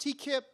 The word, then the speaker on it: Teakip: My last name is actually pronounced Teakip, but Teacup is easier to remember, so we roll with it.